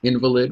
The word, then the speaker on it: invalid: And invalid is can also be pronounced invalid, which was a derogatory term used in the past for disability, although at the time it was not considered derogatory.